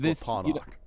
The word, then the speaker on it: Scorponok: It's pronounced Scorponok.